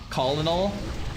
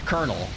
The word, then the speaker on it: colonel: Colonel is one of the words that no one actually says, right? Colinal kernel. Very weird.